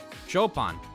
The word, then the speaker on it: Chopin: on not you guys go upon chopin not like you're chopping wood well you know i just say phonetically chopin yes very different than uh cutting wood we'll have it right